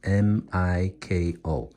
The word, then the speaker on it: Miko: So to make it sound as it sounds in English, we have to spell it as M-I-K-O. Miko.